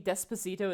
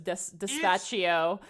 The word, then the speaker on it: Despacito: have to live with that, you have to live with the fact that I was mispronouncing Despacito as Dispatchio for like the entire. Monty, those letters aren't in the word.